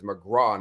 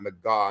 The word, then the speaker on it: McGau: um and I think I just mispronounced your last name as McGraw not McGaw I'm thinking of Quick